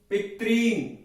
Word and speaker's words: पितॄन्: पिता, पितरौ, पितरः, पितरम, पितरौ, पितॄन्। री दीर्घ है तो हमें थोड़ा यहां पे दीर्घ के हिसाब से बोलना है। पितॄन्, पित्रा, पितृभ्याम, पितृभिः, पित्रे,